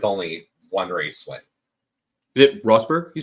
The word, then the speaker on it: Rosberg: races now wow also because you guys mentioned Roseberg earlier his dad was the one that won that year with only one race win it rosberg you said yep y neat very cool he